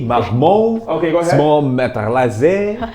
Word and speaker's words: Marmont: How do you say Gucci, Mermont? You gotta do the French style. Gucci, Marmont.